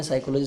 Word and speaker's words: psychology: है ठीक है ना साइकोलॉजी साइलेंट मतलब पीस साइलेंट है ऐसे निमोनिया बोलते हैं